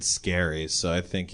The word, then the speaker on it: Scarry: Is it Scary or Scary? I never knew how to pronounce his Scary. name. Oh, I always said Scary. Because he's got the 2 R's.